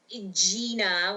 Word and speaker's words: Jena: so my name is Gina with like the line over the E.